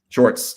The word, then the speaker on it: Shorts: Was it pronounced Shorts? Shorts.